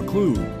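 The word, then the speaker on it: occlude: open but when you olude rhymes with exclude they are unwelcome and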